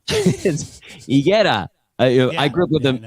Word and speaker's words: Higuera: I just realized things about the area that like people pronounce things wrong, like intentionally, like the main drag of San Luis Obispo is called Higuera Street, and it's Higuera.